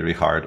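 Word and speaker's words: Richárd: richard right yeah yeah if you pronounce the full name it should be it should be rehard or or rich i think i think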